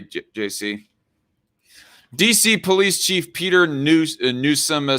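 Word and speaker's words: Newsham: Another Newsom. Well, okay. The Newsom is spelled N-E-W-S-H-A-M, Red Feather. Not the same way as Gavin Newsom in California.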